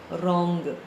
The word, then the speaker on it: wrong: Wrong. W is silent.